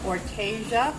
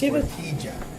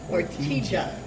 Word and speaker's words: Ortygia: It's Ortygia. Ortygia. Restaurant. It's a hard G. Yes. Ortygia.